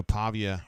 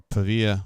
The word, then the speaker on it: Pavia: game gets started obviously Diego Pavia or pava I'm sorry I say it wrong all the time it's p Pavia whatever what am I how I well say it Pavia or pava I think it's Pavia uh is a problem